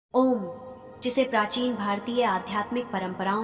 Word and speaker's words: ॐ: ओम 3 ध्वनियों अ, उ और म से मिलकर बना है।